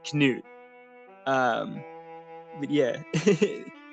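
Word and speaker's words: Knut: Oh, it's called Pan by um I think it's pronounced Canoot. Canute Hamson. I always thought it was nuts because it's kn but it might actually be Canute.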